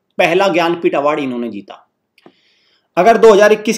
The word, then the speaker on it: ज्ञानपीठ: बात करते हैं जननपीठ award. जननपीठ, नॉट जननपीठ, इट इज ज्ञानपीठ award.